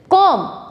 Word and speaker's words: comb: not calm thumb dumb B is silent so the correct pronunciation of this word is com thumb dumb next word